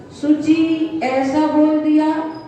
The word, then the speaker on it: शुचिः: यहाँ करेंगे सा बाह्याभ्यन्तरे शुचि, तो आपने एक स्वर बढ़ा दिया, बड़ा सा कर दिया, जबकि छोटा सा है तो इसका उच्चारण करेंगे सा बाह्याभ्यन्तरे शुचि।